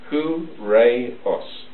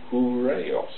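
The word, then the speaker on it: ὡραῖος: beautiful gate, right, is, I'll try and pronounce it, but it's something like hooray-os. Hooray-os. Isn't that great? Hooray. Seems to me. A bit like hooray.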